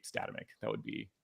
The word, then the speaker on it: Statamic: just want you to use it so ultimately statamic tends to be a lot more how people pronounce it in Europe for whatever reason I'm okay with it um but I'll you'll always hear me say statamic that would be how how we pronounce it